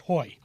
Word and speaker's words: Hoge: ordinary everyday pipe it's from a company called Hoge I think I'm pronouncing that right uh it turned out you weren't pronounced how do you pronounce that and it's pronounced hoy uh because this is